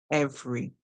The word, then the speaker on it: every: Every. Ev, r, and E. Every. So the E here is silent.